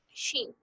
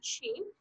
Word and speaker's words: she: She. Cuando quieran pronunciar she, el sonido es como una serpiente.